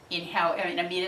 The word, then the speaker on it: Amida: The belief is that if you invoke the name of Amida, Amida is the Japanese way of saying it, no matter how